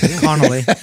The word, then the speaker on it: Connelly: He had Jennifer Donnelly on there with him. What are you doing, bro? Connelly. Donnelly? Did I say her name? And you're risking another life? Connelly? Is it Connelly or Donnelly? No, Connelly. Is Connelly? Connelly, I believe, yeah.